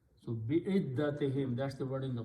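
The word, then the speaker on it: بعدتهم: So it becomes bi'iddati, and in order to pronounce with a smoothness, we pronounce this dhamma as a kasra again. So bi'iddatihim, that's the word in the Quran.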